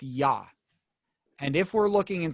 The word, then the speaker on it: Yah: And there it's Iyah, Yahweh, or Yahbeh, sometimes it's pronounced. It's not Yeh. So in other words, that's how we know it's pronounced Yah.